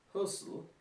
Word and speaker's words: Hösl: It's pronounced Hösl.